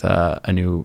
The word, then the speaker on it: Aneu: I mean, I have a podcast called A New Perspective, and it's spelled like ANEU, just like the same wheel.